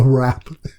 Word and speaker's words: wrap: Sorry, you British people have to pronounce the W. Okay, no, don't put that. A wrap.